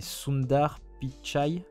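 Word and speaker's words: Sundar Pichai: de Google son prénom j'ai toujours peur de mal le prononcer c'est soundar pitchi bon Sundar on va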